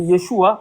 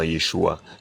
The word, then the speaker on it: Yeshua: Le A n'est pas littéralement prononcé dans Yeshua en araméen.